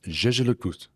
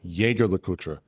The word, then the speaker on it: Jaeger-LeCoultre: The brand themselves pronounces the full name as Jaeger-LeCoultre. Here's an example for reference. Jaeger-LeCoultre. But there are plenty of industry veterans who pronounce it Jaeger-LeCoultre because one of the two co-founders was named Edmund Jaeger, and that's not exactly a French name.